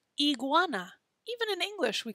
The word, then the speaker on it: iguana: e i okay so whenever we see the letter i we're going to say e so this guy is called an iguana even in english we call it an iguana right not an iguana we call it iguana